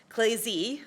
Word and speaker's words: ClayZ: So, it's across different times and spaces, they are able to sculpt together, and it is pronounced ClayZ, like Patrick Swayze.